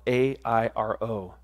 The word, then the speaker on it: airo: Now, that expression, he takes away, comes from the Greek word airo, spelled A-I-R-O, pronounced airo, which means, and listen to this, to raise up, to elevate, to be lifted up.